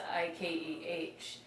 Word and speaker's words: Ike: So they shortened it to Ikeh. But still people were mispronouncing it with the H, so they took the H off. So it's Ike now.